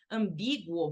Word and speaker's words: ambíguo: Ué, porque, na verdade, quando você lê ambíguo, você não diz esse M, né? Essa letra M que está aqui, você não diz esse M, você não pronuncia esse M como em manhã, né?